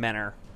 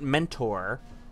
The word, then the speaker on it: Mentor: So they're from Menor. Not Mentor, but Menor. That's how you say it.